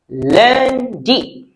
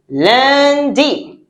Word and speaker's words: lundi: Lundi. All right. So now let's see how it's written. Lundi. Yes. It's not lundi. It is lundi. Because in French, UN sounds un.